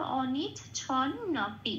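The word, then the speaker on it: অনিচ্ছন্নপি: এনে অর্থ না করে আগের অক্ষর ছয়ের সাথে জুড়ে উচ্চারিত হবে ছন, আরেকটা ন পরে রইল, তার সাথে পি যোগ হয়ে নপি। তাহলে সংস্কৃততে এই শব্দটার উচ্চারণ কিরম হলো? অনিচ ছন নপি।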